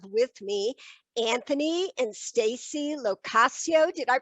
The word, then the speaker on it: Lo Cascio: today i have with me anthony and stacy locasio did i pronounce that right guys yeah yes now are